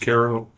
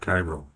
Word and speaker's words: Cairo: cat skills and that's Koo spelled Cairo but pronounced Koo not Cairo Kim shahen thank you both so much for